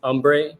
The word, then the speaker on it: URNBRE: It's Umbre, but it's spelled URNBRE. You can look at the name. You can see that the R and E make an M.